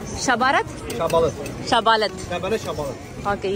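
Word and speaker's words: şabalıd: Shabalat. Shabarat?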